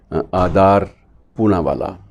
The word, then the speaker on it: आदार पूनावाला: और serum institute के जो मालिक हैं उनका नाम है आदार पूनावाला। आदार पूनावाला भी कहते हैं, कुछ आदर पूनावाला भी कहते हैं, तो अलग अलग उच्चारण है, लेकिन आदार जो है वो पूनावाला के नाम से ये वैक्सीन आपको मिलता है।